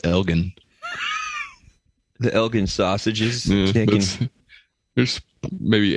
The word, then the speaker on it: Elgin: directly from the acropolis i think it's pronounced elgin the elgin sausages there's